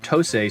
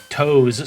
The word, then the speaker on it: Tosei: from fellow Japanese developer Tosei Software, or at least I think it's pronounced Tosei, seeing as it's a Japanese company, and it's surely not Toes Software, right?